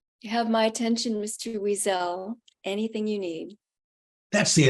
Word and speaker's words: Weasel: And my name is Weasel. First part rhymes with squeeze.